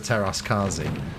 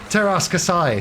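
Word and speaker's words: Teräs Käsi: Best Star Wars game though, obviously Masters of the Terras Kazi. Is that a fighting game, isn't it? Yes, the fighting Kazi. one, Mike. Teras Kasai.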